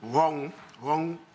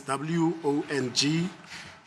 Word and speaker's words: Wong: It's a 1949 USSC 33 336 USS 40 1949, and it was cited with approval in Wong as in Chinese, W-O-N-G, Wong Sun, that is, Sun is S-I-S-U-N versus United States.